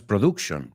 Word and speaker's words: production: Otro, production, no es production, production. Palabras que reconocemos, pero las he oído pronunciadas mal miles de veces, te lo juro. I swear to God. So say them with me. No, el momento que cultivation, cultivation, production, it's that schwa sound, production.